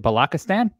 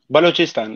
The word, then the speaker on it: Balochistan: born in uh how do you say it balaka stan balochistan yeah so that's where you're from uh yeah